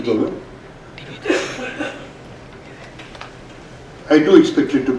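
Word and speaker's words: Doklam: The Bhutanese pronunciation is Dolan.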